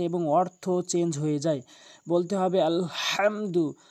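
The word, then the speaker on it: الحمد: বলতে হবে আলহামদু, হাটি হলকের মাঝখান থেকে ভর দিয়ে চাপ দিয়ে আলহামদু আলহামদু এভাবে আমরা উচ্চারণ করব।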